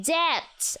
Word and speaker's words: debt: The B is silent in debt.